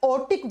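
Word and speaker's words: aortic: आर टी आई सी लेकिन ज pronounce करते हैं तो आर साइलेंट हो जाता है इसको आट या ओटिक बल्व कहा जाता है हिंदी में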